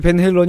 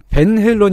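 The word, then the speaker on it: Van Halen: 이제 소개가 되고 그랬는데 밴 헤일런 이라고 부르지 않고 반 할래 이라고 부릅니다 방송 했어요 나 특히 그 발음을 열심히 밀어 주시는 분이 계세요 어 논리가 이렇습니다 네덜란드 사람이니까 네덜란드어로 불러야 된다는 거예요 이렇게 두개 음 90년대 적 혹은 20세기 족발 3 음 사실 네덜란드 사람이 아니에요 네덜란드에서 태어나게 했는데 어렸을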